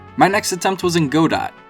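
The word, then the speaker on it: Godot: next attempt was in God do that's the way it's pronounced don't look it up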